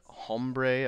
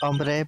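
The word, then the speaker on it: hombre: hey yeah makes sense a was that uh hbre a friend of yours it's pronounced ombre but thank you um uh kind of sort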